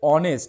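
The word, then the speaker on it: honest: যদি ভাওয়েলের মত হয় মানে উচ্চারণটা কি আছে অনেস্ট উচ্চারণ কিন্তু হনেস্ট না উচ্চারণটা কি আছে অনেস্ট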